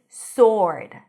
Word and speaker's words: sword: The next word is sword. Sword. No W. Sword.